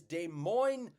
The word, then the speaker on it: Des Moines: I think that the correct pronunciation is Des Moines, Iowa.